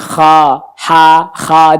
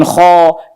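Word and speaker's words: خ: Lalu kemudian kha di situ tempatnya, jadi bacanya bukan kho, ini tetap mangap kha. Kedengerannya a tapi ada o-nya karena pangkal lidahnya naik. Tuh kan? Kha bukan kho. Ini bentuk mulutnya ini kan kho, salah. Kha.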